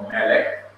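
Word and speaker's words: מלך: Like yesterday, when we were looking at different words, we saw Melek, M-E-L-E-K. The accent is on Meh, which is not the last syllable, but the syllable just before the last syllable.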